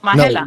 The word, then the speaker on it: Majela: Oh, Majela.